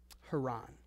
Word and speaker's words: Haran: a place called Quran now it's spelled the same as Heron but they're two separate things so that's why I'm I'm pronouncing them a little bit differently so they go to